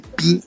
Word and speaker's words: pi: Los americanos, los estadounidenses, celebran el día pi comiendo pasteles redondos debido a que pi en inglés se pronuncia igual que pie, que significa pastel, ¿no?